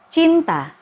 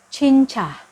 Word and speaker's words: cinta: Cinta harus diucapkan dengan jelas, bukan menambah huruf H di akhir kata, atau mengganti huruf T dengan C. Atau bahkan penggabungan dari keduanya. Jangan sekali-sekali mengucapkan kata cinta berubah menjadi cinca. Cinca.